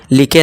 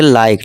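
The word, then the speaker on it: like: Dine, ride, site, लाइक, nice, लिखे नहीं पढ़ेंगे लाइक, ठीक है दोस्तों।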